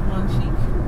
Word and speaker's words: Monchique: I want to say it like French. It is Monchique.